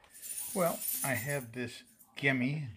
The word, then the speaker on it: Gemmy: well I have this gimi g e mm y I think it's pronounced light projector that's for